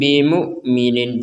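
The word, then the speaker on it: بمؤمنين: Perhatikan di sini ada huruf mim sukun ya. Sukunnya memang tidak tertulis kalau di Quran Madinah. Wama hum bimukminin. Kemudian bertemu dengan huruf ba. Maka kita membacanya dengan dengung disertai samar. Nah, dengan dengung disertai samar atau samar disertai dengung.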